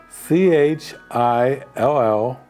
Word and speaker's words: Chillicothe: Now, I'm from Ohio, so I know how to spell it, but I'm going to spell Chillicothe because it sounds very native. C-H-I-L-L-I-C-O-T-H-E, Chillicothe, Ohio.